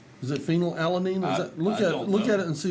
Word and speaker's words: phenylalanine: oh fill out the phenylalanine right is it phenylalanine look at it and see does that make sense phenylalanine yes okay to you no no I don't